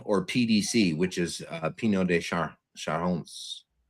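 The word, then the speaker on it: Pineau des Charentes: PDC, which is, uh, Pino de Shahones I think is how you pronounce it.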